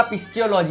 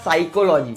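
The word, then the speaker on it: psychology: ये तो पक्का पिस्टियोलॉजी होगा. बिल्कुल गलत. इसमें जो P है वो साइलेंट रहेगा, वो सिर्फ दिखेगा, हमें उसको इग्नोर करना है. ये होगा साइकोलॉजी.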